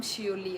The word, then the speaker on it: Seouli: यही है मेरा नाम जो स्क्रीन में दिख रहा है ना, मेरा नाम शियोली है। शियोली आई थिंक आप लोगों को प्रोनाउंस करना थोड़ा वो होगा, हो सकता है।